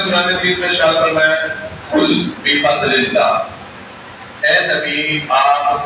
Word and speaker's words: قل: نا، اس کا معنی آپ کھا لیجئے۔ لفظ تلفظ کے ساتھ کیا ہے؟ قل، قل کاف کے ساتھ، دو نقطوں والی کاف،